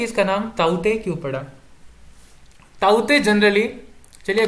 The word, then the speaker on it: ताउते: यहां पर आप देख सकते हैं कि ताउते, इसे हम ताउते प्रोनाउंस नहीं करेंगे, इसे हम कहेंगे ताउते।